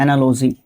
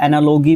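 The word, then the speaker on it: analogy: एक टॉपिक आता है एनालॉजी या एनालॉगी भी प्रोनाउंस करते हैं इसको ठीक है अच्छा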